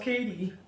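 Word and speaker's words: Cady: said to the girl the Cadi that's pronounced Katie Oh oh my god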